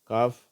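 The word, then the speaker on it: cough: இங்க இந்த வார்த்தைகள்ல எல்லாம் ஃபு ஃபுன்னு முடியுது லஃப் காஃப் ரஃப் இந்த வார்த்தையில வந்து அப்படியே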